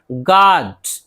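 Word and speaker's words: guard: गार्ड, गार्ड मुहाफिज। Guess, guess कयास या फिर अंदाजा, कयास करना, कयास आराई करना। तो देखिए जी के बाद यू है, नहीं पढ़ रहा है।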